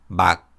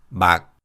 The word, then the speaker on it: 막: When these consonants are used as batchim, they are all pronounced as unreleased 기역 sounds. Listen to the following words. 막, 막, 박, 박, 부엌, 부엌.